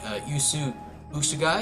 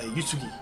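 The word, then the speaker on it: Uesugi: start here is the Yu USU guy is that how you pronounce it's actually um it's a Yugi Yugi okay Yugi all right cool yeah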